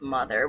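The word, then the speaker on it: MU-TH-UR: analog anagram what's that word um um it's pronounced mother which is another interesting dynamic where the ship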